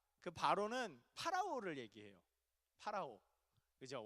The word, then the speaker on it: 파라오: 파라오. 그죠? 원래 발음은 파라오인데 이거를 한문으로 음차를 하다 보니까 바로라고 읽게 됐는데, 이집트의 왕 파라오를 얘기합니다.